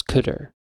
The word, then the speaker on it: cdr: but the first element is called CDR just pronounce cutter your analogous to but